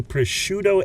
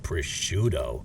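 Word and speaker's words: prosciutto: Yesterday, I made a pushuto egg and cheese on a buttered and pepper jellied English muffin. Oh, I know some Jersey Italians who are going to hate that you pronounce it pusho.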